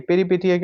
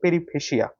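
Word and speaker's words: peripeteia: এরপর বলছে পেরিপেটিয়া, এই পেরিপেটিয়াকে অনেকে বলে পেরিফেসিয়া, ঠিক আছে। তো এটার আসল উচ্চারণ হচ্ছে পেরিপেটিয়া।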